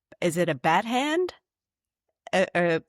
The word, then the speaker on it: badchen: I don't even know if I'm going to pronounce this right. Is it a bat hand? A bad hand? The badchen.